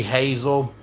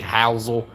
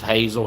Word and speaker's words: Hazel: But Joey Hazel is the way it's pronounced. To me, his name should be Housel, but it's pronounced Hazel.